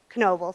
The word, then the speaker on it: Knoebel: Yes, it is pronounced with a K, Knoebel, so remember that.